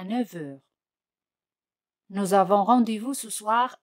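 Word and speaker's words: neuf heures: A 9 heures. Fijaos aquí, la letra F se pronuncia como V.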